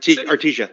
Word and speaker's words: Artesia: How do you pronounce that? Artesia, yeah.